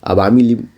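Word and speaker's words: আওয়ামী লীগ: आगे बढ़ते हैं क्वेश्चन नंबर, हाँ इसकी उच्चारण जान ले। शेख हसीना की पार्टी क्या है? अवामी लीग नाम की इसकी पार्टी है, अवामी लीग।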